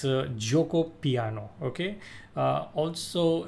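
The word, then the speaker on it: Giuoco Piano: opening sub say most played out opening is Joko piano okay this is the most played out opening like it's also the most mispronounced opening a lot of people call It geop piano it's a Joko piano okay uh also it's also known as Italian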